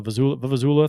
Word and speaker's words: vuvuzela: The vuvuzela thing. How do you pronounce that, Bill?